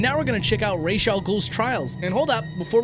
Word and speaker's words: Ra's al Ghul: And now we're gonna check out Ra's al Ghul's trials.